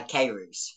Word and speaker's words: Keyrouz: to welcome the beautiful British female bodybuilder kiroos is that the right pronunciation for your name uh Kairus yeah excuse me to the podcast um